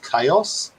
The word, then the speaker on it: Kaos: It's called Chaos.